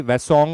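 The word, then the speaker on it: Hwasong: Many people pronounce it differently. H is silent, so it is basically Wasong also.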